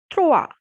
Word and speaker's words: trois: Third is trois, trois, because O and I has the sound wa. So trois.